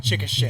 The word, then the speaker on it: Chickasha: it's it's pretty it's pronounced Chickasha Chickasha this not to correct